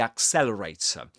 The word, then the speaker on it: accelerator: The last sound, the last letter is not pronounced, but in this case, is immediately followed by a vowel sound, a schwa. So we get accelerator, accelerator, and we call this pronounced r sound, in this case, a linking r.